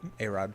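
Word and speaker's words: Arod: Let's grab A-Rod, which I think it's pronounced Arad, but I like A-Rod so much more.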